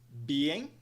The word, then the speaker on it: being: Primeira palavra é, então, being. Being. Being. Duas sílabas, duas partes.